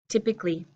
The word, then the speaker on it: typically: and the woods typical this is why my pronunciation of typically is so difficult because the adjective form I do say to coal typical a typical day a typical problem a typical person but my adverb I don't say typically I say